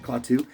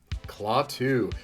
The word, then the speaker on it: Klaatu: Klaatu.